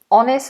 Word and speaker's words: honest: and rice um says honest why is honest pronounced without an H but honor is with an H honest honor